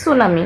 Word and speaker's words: tsunami: সুনামি বানাম হচ্ছে টি দিয়ে। সো এস দিয়ে শুরু মানে মনে হলো উচ্চারণটা। কিন্তু আমাদের টি দিয়ে শুরু হবে। সুনামি বানামটা এটা একটু ব্যতিক্রম বানাম। এটা তোমরা খেয়াল করবে। টি এস ইউ এন এমই সুনামি।